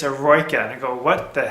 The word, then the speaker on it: Eroica: And the way it's spelled is E-R-O-I-C-A. I'm like, you're going down to do erotica? He goes, no, not erotica, it's Eroica.